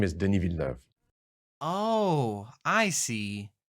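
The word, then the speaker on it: Denis: hi my name is den oh I see it's a French name that's why the first name has a silent s in it and that's why the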